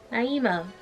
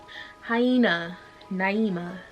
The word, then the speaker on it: Naima: question what's my name naima you pronounce it like hyena except replace the h with an n and then the end with an n hyena naima same ring same flow please get it thank